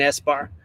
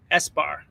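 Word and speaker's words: ESBAR: Yes, I am still thinking about getting an S-bar, and it's spelled E-S-B-A-R, S-bar. I think that's right, something like that.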